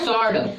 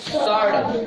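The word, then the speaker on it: sword: इसको पढ़ेंगे सॉर्ड। क्या पढ़ेंगे? सॉर्ड। सॉर्ड में क्या साइलेंट है? डब्लू। और क्यों साइलेंट है? क्योंकि एस के बाद आया है, तो डब्लू दो जगह पे साइलेंट रहता है।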